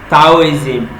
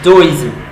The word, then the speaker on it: Taoism: We also looked at Taoism, that you might want to pronounce as Taoism, Taoism, but the right pronunciation is Taoism.